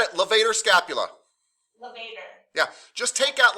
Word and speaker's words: levator: said it levator scapula levator yeah just take out like an elevator just take out the l levator scapula and trapezius